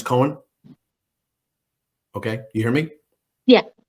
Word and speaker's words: Coen: This PlugIntro platform will be the right pronunciation is Coen.